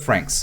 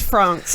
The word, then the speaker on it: francs: The fee for the permit was 400 francs. Too much. It's pronounced France, actually. France.